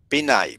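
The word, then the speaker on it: pinnae: Outer ইয়ার এর মধ্যে প্রধান যেটা থাকে সেটার নাম হচ্ছে পিনাই বলে এটাকে।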